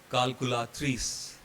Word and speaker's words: calculatrice: So in both these cases, C will become K. And pronunciation is calculatrice.